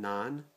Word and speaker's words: naan: bread that Trader Joe's carries and it's called naan I think I'm pronouncing that appropriately n-a-a-n is the spelling of